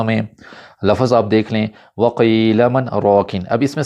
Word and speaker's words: وَقِيلَ مَنْ رَاقٍ: لفظ آپ دیکھ لیں وَقِيلَ مَنْ رَاقٍ۔ اب اس میں سکتہ کیسے کرنا ہے غور سے سنیے گا۔ وَقِيلَ مَنْ رَاقٍ، سکتہ ایسے ہوتا ہے۔ اگر ایسے میں کروں وَقِيلَ مَنْ رَاقٍ تو ایسے غلط ہو